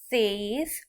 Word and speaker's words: says: The girl says, she says says to rhyme with days.